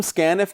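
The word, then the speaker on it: scanf: वह गेट करता है इसको हम प्रोनाउंस करते हैं स्कैन एफ के साथ फंक्शन आगे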